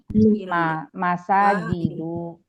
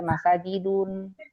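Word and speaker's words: مساجدُ: Nah, ini masaj sajada masaj masjid masjid mail masajidu maail masajidu mafailu mafailu ini jamak jamak dari masjid-masjid dibacanya masajidu enggak boleh masajidun oke tidak boleh menerima tanwil maka Masajidi ya enggak boleh.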